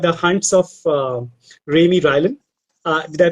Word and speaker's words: Raimy Rylan: Before that, he has written a series for middle grade students, and the series was called The Hunts of Raimy Rylan. Did I pronounce that You correctly?